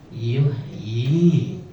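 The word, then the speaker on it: يُحْيِي: Kalau ini ulama berpesan, ada loh di Quran ya ditulisnya satu tapi dibacanya dua. Dua mana? Kasroh satu ditambah sukun satu gitu. Dua nih, satu dua. Jadi ada di Quran salah satunya yuhyi. Kalau ibu hafal awal-awal Al-Baqarah yastahi. Coba aja dilihat, iyanya satu tapi bunyinya dua ya.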